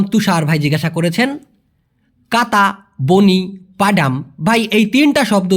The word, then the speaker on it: bunyi: আর আপনি যে বলেছেন বনি, ভুল সবারই হতে পারে, আমারও হতে পারে। বনি হবে না ভাইয়া, এটা ভুল। মূলত উচ্চারণটা হবে বুনি।